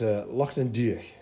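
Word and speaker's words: Lochan Doire-Uaine: but in Gaelic it is pronounced it's Loch an Diach, and that means Loch of Green Thicket.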